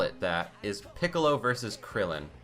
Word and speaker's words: Kuririn: The second fight, if you could even call it that, is Piccolo versus Krillin, or Kuririn if you're going with the Japanese pronunciation.